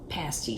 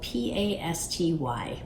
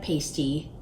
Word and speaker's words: pasty: the Attic is a pasty shop. And the word, it's spelled P-A-S-T-Y, which looks like pasty. Don't let your mind go there.